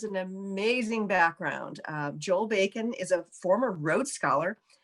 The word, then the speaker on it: Bakan: well i you know there are different ways people pronounce it bacon bacon um but the correct pronunciation is backing um okay yeah yeah